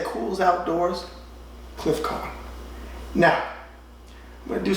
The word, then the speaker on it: Cohn: I'm saying Cohn, guess what I was teaching. You say Cohn.